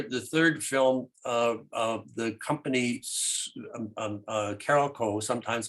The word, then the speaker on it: Carolco: The company Carolco, sometimes pronounced Carolco, sold the rights to Miramax.